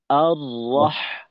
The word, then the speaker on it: الرحمن: আচ্ছা, এখানে দেখেন আর, এই যে উচ্চারণটা করলাম আর রহ, আর রহ, এই উচ্চারণে আমাদের ঠোঁটের যে দুই কিনারা ছিল এইটার মাঝে কিন্তু বিন্দু মাত্র এর যে পজিশন ছিল এইখানে পার্থক্য নেই।